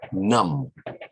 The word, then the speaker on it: numb: well next word is num where you spell n-u-m-b but a b is silent so you don't say num num for example okay our